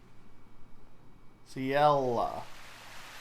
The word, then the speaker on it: Ciela: Ciela.